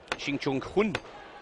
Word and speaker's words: Shin Jong-hun: Shin Jong-hun is the correct pronunciation.